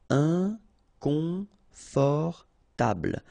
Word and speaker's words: inconfortable: Okay, don't pronounce final E. Table. Inconfortable.